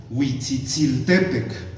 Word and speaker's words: Huitzitziltepec: el Cerro del Colibrí, deberíamos llamarlo propiamente Huitzitziltepec, con acentuación en la penúltima sílaba, ¿no? Como se acentúa en el náhuatl.